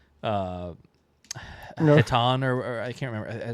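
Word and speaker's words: Hetan: I think it's Eaton. Eden. Yeah. Yeah. eaten is how they pronounce it in the in the in the eating. Like the H is silent.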